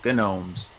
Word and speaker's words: gnomes: No, gnomes. Gnomes. Gnomes. But she is silent.